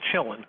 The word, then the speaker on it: Shillen: By the way, I was taught long ago that Shillen is Chillin. That's how you pronounce his name.